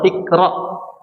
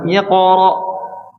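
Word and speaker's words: اقرأ: Kalau kita bacanya gimana? Iqra atau ikra. Iqra harusnya gimana? Iqra.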